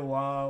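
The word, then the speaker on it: は: You basically just need to know that, like, when you're using it as a particle, when it's not part of a word, it's pronounced wa.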